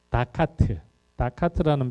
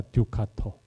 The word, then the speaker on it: 두카토: 아마 여러분들 인터넷 이렇게 보시다 보면 특히 유튜브 보시면 다카트라는 표현 많이 쓰는데 그거 좀 안 썼으면 좋겠어요. 그게 약간 영어식 좀 이상한 발음인데 두카토입니다. 베네치아 두카토.